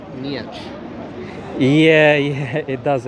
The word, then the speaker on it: Nietzsche: It's Nietzsche, because I kept saying Nietzsche, and I got told off by a few people. Then I was like, okay. Like, conceptually, it says Nietzsche.